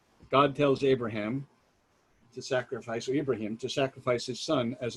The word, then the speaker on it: Ibrahim: and so god tells abraham ibrahim i want to pronounce it the right way and for the story's